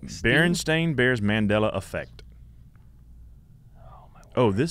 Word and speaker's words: Berenstain: you think it is it would be Berenstain Bears say that again is it Berenstein Bears no so Berry I don't know what it is now let me look it up it's the barren stain Bears I said Bernstein right